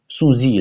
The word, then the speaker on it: Sun Tzu: It's pronounced as Sun Tzu in Chinese, Sun Zi rather.